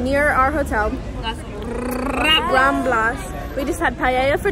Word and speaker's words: Las Ramblas: It's popping tonight on the, how do we pronounce the street? Las Ramblas. Near our hotel. Las Ramblas.